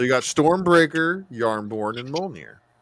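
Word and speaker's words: Mjölnir: stormbreaker is in the mcu but you've got molnir you know in in the uh proper pronunciation right and then uh does everybody know about that axe yep yarnborn so you got stormbreaker yarnborn and mulmere how many brothers well they're very important to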